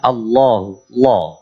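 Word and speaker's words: الله: huwal hayyul Qayyum jadi lafaz Allah kalau menjadi pembuka bunyinya Allahu atau tidak menjadi awal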